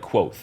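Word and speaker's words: Kvothe: e that's a yeah but they say it's pronounced like quo in the book oh so qu that's horrible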